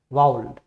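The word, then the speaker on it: vowel: अब इसमें ये देखना वॉवल वॉवल बोलते हैं वो नहीं होता है, वो एग्जैक्ट उसका प्रोनाउंसिएशन क्या होता है, वाउल।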